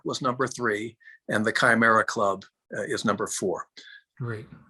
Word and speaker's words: chimera: is a chimera club what the heck is chimera and am i pronouncing it correctly yes you are a chimera